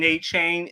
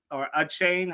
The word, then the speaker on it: Achane: of hurt because Devin Achane wasn't there, or Achane. How I know that he's we've been mispronouncing it apparently. I think is what the people are saying. Yeah, I think it's Achane. Yeah, Achane for a little while now.